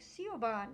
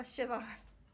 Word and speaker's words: Siobhan: BH something I'm like that's a v sound like Siobhan you know and which uh um somebody I know was pronouncing is like Siobhan no a Shivan you know but I